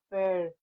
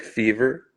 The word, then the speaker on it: Fevr: How would you describe the sonic evolution of fair? How do you pronounce the name? Uh, just like fever.